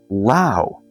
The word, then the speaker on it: Lao: reviews this is by Lao rhymes with wow my sixth heas suato